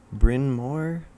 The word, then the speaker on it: Bryn Mawr: Bryn Mawr, Pennsylvania.